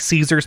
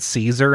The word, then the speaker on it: Caesar: Vegas is that like half the people pronounced it Caesar and the other half pronounced it Kaiser.